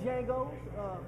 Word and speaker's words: Django: Has everybody been mispronouncing? It's just Django.